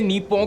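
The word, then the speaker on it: 日本: अगर आप इसे इंग्लिश में लिखा हुआ देखोगे तो आप इसे निप्पो करके प्रोनाउंस करोगे, लेकिन असली प्रोनाउंसिएशन इसकी नीपो होगी।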